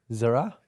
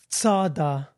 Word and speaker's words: Zara: Apparently, it's Tsada. Not bothered. Zara themselves came out and said it's pronounced phonetically Tsah, Tsa, Da, D-A-H. So it's not Zara, it's Tsada.